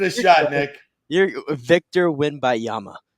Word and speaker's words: Wembanyama: You're Victor Wembanyama. Wembanyama. I think there's another syllable in there.